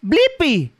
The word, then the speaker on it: Blippi: la internet tú sabes mi nombre s es blippy b l I p p i buen trabajo ahora sabes de letrear y pronunciar mi nombre hasta la próxima chicos